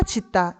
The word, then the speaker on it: 짓다: 씻다 짓다 이거는 접다 덮다처럼 분절 의문의 구성 자체가 다르기는 하죠.